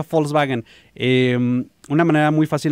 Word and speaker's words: Volkswagen: si es Volkswagen No de hecho se pronuncia Volkswagen eh una manera muy